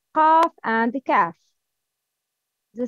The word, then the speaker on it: ق: Tafkhim, the sound of letter qaf is heavy, always heavy.